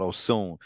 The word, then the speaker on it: Osun: It's called Osun. Almost spelled like Oshun, Osun.